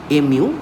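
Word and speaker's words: μ: Just pronounce that mu. Sometimes it is said as m ew w. I'll say that mu.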